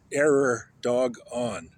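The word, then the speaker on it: Erdoğan: And then and then um Erdogan error dog on.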